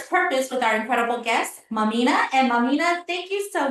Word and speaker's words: Mamina: And our guest today is Mamina. No, I didn't say that right. How do you say your name? Mamina.